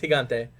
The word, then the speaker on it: Gigante: The That is the correct. local Latino has approved of our message. It is Gigante.